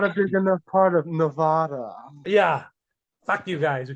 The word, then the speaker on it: Nevada: But hey, how do you say it? Nevada, not fucking Nevada.